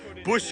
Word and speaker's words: Busch: In the Triple J universe, it's pronounced the same, but you take away the C in Busch Gardens. Busch Gardens.